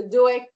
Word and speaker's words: Doëg: Que Doeg, Doeg. Oui, voilà. Voilà. Comme ça s'écrit G-O. D-O-E-G. Ok. Doeg. Oui, Doeg.